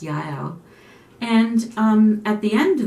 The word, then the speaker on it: Jael: I looked into the pronunciation, and they say it's Jael.